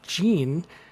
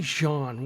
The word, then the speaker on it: Jean: they're from uh Haitian that's French so it's probably Jean why Wyclef Jean so